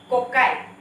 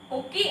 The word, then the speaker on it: cocci: bacteria first one is cocci isn't it cocci or cocci in whatever way you would like to pronounce that cocci junto bookot dia